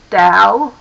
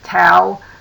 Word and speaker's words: Tao: The term Tao, or Tao, actually pronounced more like D-O-W in some of the more modern translations to write it that way, means way.